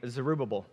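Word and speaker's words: Zerubbabel: gonna talk today is about a guy named zerubabbel and talking about being stuck it's taking me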